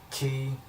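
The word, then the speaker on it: χ: I know people probably call it Kingdom Hearts Chi or Kingdom Hearts Chai or something. I don't think it was ever Chi. It never was. It's pronounced Key because of course Key Blade.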